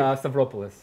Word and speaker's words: Stavropoulos: Jesslyn Lim and Strapopoulos. Yes. Do I say it correctly? Close enough. How do I say it correctly? Stavropoulos. Stavropoulos. Okay.